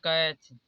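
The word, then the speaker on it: catch: इसलिए यहां पर देखिए सी एटी एच काच अब टी सीच साथ में आया तो इसलिए यहां पर टी कॉमन हो जाएगा तो इसे पढ़ा जाएगा कैच अब यहां पर देखिए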